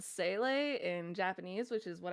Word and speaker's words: Sele: You're going to hear me say Sele, like constantly. Yeah, that's how I pronounce it too. See, I say Sela. So Sele is how her name was pronounced in Honkai Impact 3rd, and I am having